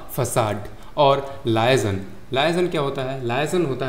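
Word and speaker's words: façade: ये फसाद नहीं है। दंगा फसाद वाला नहीं है। ये फसाड है।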